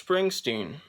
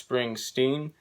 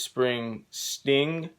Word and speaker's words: Springsteen: pronounced his name right sometimes instead of saying bruce springsteen i say bruce spring sting like you know sting the singer the lead singer of the police yeah i say it